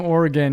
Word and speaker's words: Oregon: It's like Oregon, not Oregon. Yeah. Yep. If you're from Oregon, you say Oregon. That means it's right.